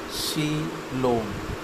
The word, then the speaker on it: coelom: A coelom, in Greek words seal, hollow money pronounced coelom, is a fluid-filled cavity between the alimentary canal and the body wall.